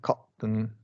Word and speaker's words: cotton: Okay, cotton. Or cotton. Okay, button. Yeah. Button. Yeah, button. Okay. That's correct. That's exactly right. Right. And that's just T vowel N if that syllable is not stressed.